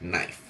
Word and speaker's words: knife: If it starts with a KN, you don't pronounce the K. It's just knife.